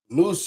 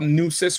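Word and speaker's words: Nueces: So I would look up look up Nus River and then go south and see if you find a Tampo region. Okay. All right. N E Wis N EU. It's like deuces.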